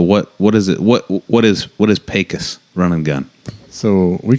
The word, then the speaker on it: Pecos: But you got to say it more Mexican. Pecos.